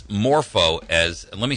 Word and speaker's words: MorphoTrust: to third parties it's morpo as let me spell that for you m like Michael o r p like Peter H like Hotel o trust that's Moro trust like morph like morphing into something and uh its name